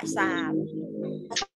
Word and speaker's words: กษาปณ์: ตาม พูห์ นะ คะ กษาปณ์ อ่าน ว่า กษาปณ์ ตา ปาน วาด รูป